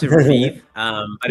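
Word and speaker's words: Revieve: Uh we pronounce it Raviv.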